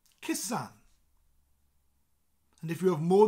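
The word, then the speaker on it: cusan: be a sun kissan sound very similar to kiss it sounds like you're kissing a girl called Anne kissan kissan and if you have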